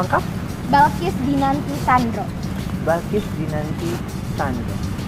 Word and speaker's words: Balqish: Balkis apa Bilkis ini? Balkis. Balkis, nama lengkap? Balkis Dinanti Sandro.